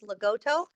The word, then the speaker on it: Lagotto: Yeah, so just to let you know, the correct pronunciation, Peter, is Lagotto. So if you were Italian, you would say Lagotto Romagnolo. It's a I'll long, remember that.